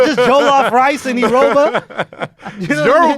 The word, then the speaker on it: Jollof: How do you say Jollof real Nigerian like? Your Jollof was all right. Jollof. Yeah. It's all right. Don't say it too quick.